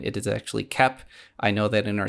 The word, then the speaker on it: Koepp: I also looked up how to pronounce his name. It is actually Koepp. I know that in our Spider-Man episode, we kept calling him Cope.